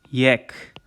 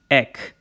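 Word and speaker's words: էք: and then we have tuk yek or just eck same thing as before it's a yet and a k ek all right and they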